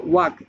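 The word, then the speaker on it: walk: Just প্রনাউন্সের জন্য আমি বলতেছি, হ্যাভ অর্থ টাকা, স্লিপ অর্থ ঘুমানো, তারপর হতো ওয়াক, এখানে ওয়ার্ক নাই ওয়াক, WAK অলাকে উচ্চারণ হইব, ওয়াক অর্থ হাঁটা।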